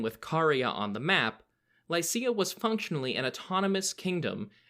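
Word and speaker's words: Lycia: just described and the territory of Lysa or luukia in its ancient Greek pronunciation we last visited Lysa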